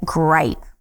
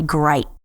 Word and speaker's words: gripe: And when we pronounce the first one, we call it a gripe. Just like a grape, like you eat, but with a long I, a gripe.